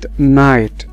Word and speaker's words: night: وزي كلمة نايت، نايت نايت يعني ليلا، نايت. فالاي جي اتش زي ما قلنا الجي اتش ما بيتنطقوش، اما الاي ار بيتنطقوا